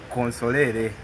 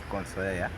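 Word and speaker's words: consolari: They call it consolere, but anyway, the Latin pronunciation is consolare, which means giving counsel, advising someone or guiding.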